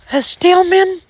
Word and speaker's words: Steelman: Then if you go to her dad's side of the family, you got, her dad was a Stillman. It's spelled Steelman.